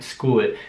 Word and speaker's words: school: man kennt vielleicht schon school es ist aber wieder interessant zu sehen dass das sch und gesang zu hören dass das sch wieder sk ausgesprochen weil also nicht schul sondern ich sage das war